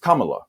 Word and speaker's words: Kamala: of makes sense that it would be pronounced Kamala you see what I'm saying like almost like you're saying Kama so but it's this